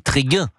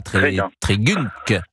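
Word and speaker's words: Trégunc: Alors ça s'écrit T-R-E-G-U-N-C, mais évidemment les Bretons que nous sommes savent qu'on dit Tréguin. Et on ne dit pas Trégunk, on dit Tréguin.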